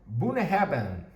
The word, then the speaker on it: Bunnahabhain: Esto se pronuncia Bunnahabhain.